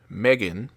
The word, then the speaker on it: M3GAN: I watched Megan from 2023, which for some reason in the title is spelled M3GAN, but it's the first movie.